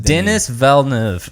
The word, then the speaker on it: Denis Villeneuve: Denis Villeneuve. That guy. Denis Villeneuve. It's spelled like Dennis, but he pronounced it Denis Villeneuve.